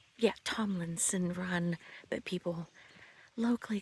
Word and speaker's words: Tomlinson Run: And Run state park but people it's actually pronounced yeah Tomlinson run that people locally call it Thomason run the sort of an idiosyncratic regalism and a